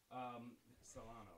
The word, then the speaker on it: Silano: But Silano, right? Yeah. You know, I've been so anxious about mispronouncing your name.